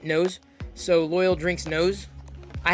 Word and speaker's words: NOS: they use nose uh it knows right that's how you say it nose so loyal drinks nose